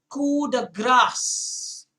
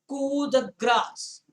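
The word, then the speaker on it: coup de grâce: say that it is cool the grass the p is silent cool the grass just remember okay yes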